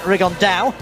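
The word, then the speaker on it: Rigondeaux: That's coming up in about 3 weeks, and Tete's talked about fighting Rigondo, or as he's correctly pronounced with the Spanish accent, Rigondao.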